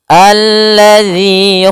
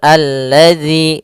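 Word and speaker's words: الذي: Pada lafal alladzi kembali lagi kita mendapati hukum tajwid berupa alif lam syamsiyah yaitu alif dan lam yang dia ditulis tapi tidak terbaca maka di sini langsung ke huruf lam yang berharakat tasydid maka allahah tanda ini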